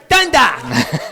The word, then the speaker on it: Dundalk: Dundalk.